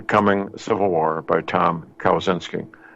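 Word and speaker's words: Kawczynski: excellent book the coming Civil War by Tom cows in skiing kowenski is spelled ka w c zy in s ki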